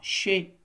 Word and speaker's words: chez: chez zén Zen Z on a ici un Z qui ne se prononce pas chez che est-ce que c'est